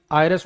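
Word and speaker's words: heiress: जैसे आर H silent है। इसमें आर मतलब उत्तराधिकारी। आयरस मतलब कोई लड़की उत्तराधिकारी हो।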